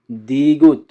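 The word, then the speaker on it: 디귿: এর উচ্চারণ হবে দ এবং ত এর মতো।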